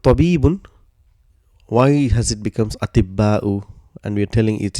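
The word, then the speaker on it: أطباء: So this ta, because it has got sukoon for pronunciation, it becomes ti, and ba will get a shadda. So it becomes atibba'u.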